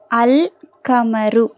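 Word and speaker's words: القمر: ஓகேங்களா அல்கமரு லாம் உச்சரிக்கப்படுது ஏன் காப்ங்கிறது கமரியாவுடைய எழுத்து சோ அல்கமரு அந்த நிலவு அந்த சந்திரன்.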